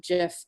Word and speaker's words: GIF: I remember publishers use some of them use gif gif files some folks pronounce that jiff but they're essentially the